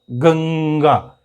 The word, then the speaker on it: गंगा: आपने कई बार देखा होगा इस तरह से ng में प्रोनाउंसिएशन होता है इसका, गंगा।